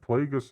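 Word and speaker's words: Plagueis: that's the other thing so many people pronouncing his name wrong as well real Star Wars fans they they said plague us enough in the Revenge of the Sith Master vestra we found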